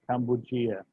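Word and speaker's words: Kambujiya: My wife said the Cambus is pronounced Kambugia.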